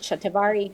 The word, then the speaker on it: shatavari: And then shatavari, as you pronounce it shatavari, is how you pronounce it in the west, for menopause and hormone resilience.